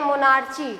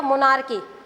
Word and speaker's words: monarchy: ठीक है, बहुत सारे बच्चे इसको प्रोनाउंस करते हैं मोनार्ची, नॉट मोनार्ची, CH का साउंड करेगा, मोनार्की।